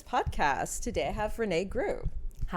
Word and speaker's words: Groux: Today I have Renee Gru. Hi. Did I Did I pronounce that right?